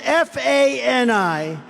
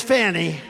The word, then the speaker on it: Fani: Now, even though I believe it's spelled F-A-N-I, to my way of thinking, that's Fanny. But once she became the district attorney, I think she put a little emphasis on the U.